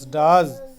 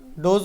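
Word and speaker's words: does: কাম মানে আছে বা ডি ওই এস ডাজ ডজ নয় উচ্চারণটা ডাজ আরেকবার ডি ওই এস ডাজ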